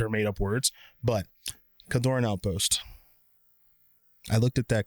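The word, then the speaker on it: Kjeldoran: seeing, I pronounce it Keldorn Outpost. I believe the J is silent.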